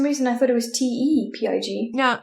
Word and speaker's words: Tepig: How do you say that word? Tepid. Tepid is Tepid. Yeah. So tepid. So Tepig. Because it's a tepid pig.